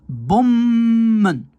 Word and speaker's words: bommen: Donc, je sépare ce mot en deux en faisant bomen. Alors que ici, si je sépare ce mot en deux, ça va être bommen.